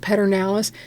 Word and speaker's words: Pedernales: Okay, so she just pointed out to me that it is spelled Peter, P-E-D-E-R, Pedernales, but I don't know anybody in Texas that pronounces it Pedernales. We all say Pedernales.